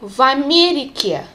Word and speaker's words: в Америке: Listen how we say this v. We don't separate it from the next word. We pronounce it together. Я живу в Америке. В Америке. So you will not recognize this v separately.